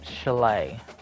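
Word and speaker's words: Shillelagh: Chalet.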